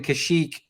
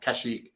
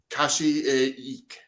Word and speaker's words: Kashyyyk: seen the word uh kashyyyk in the star wars game i pronounced it i i assumed that that middle y was its own syllable and pronounce it kashi eek wow so i i